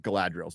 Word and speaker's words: Galadriel: Please correctly pronounce these words. Galadriel.